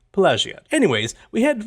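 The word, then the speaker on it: Pelagiad: we'll run up to pagad payad pag I like the soft G version pagad anyways we head right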